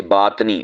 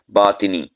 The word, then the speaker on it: باطنی: مخفی۔ اسی طرح باطنی، ہم اسے باطنی، باطنی تو آ ساکن کر دیتے ہیں، یہ غلط ہے۔ صحیح کیا ہے؟ باطنی، یعنی تو آ کے نیچے زیر ہے، عربی زبان کا لفظ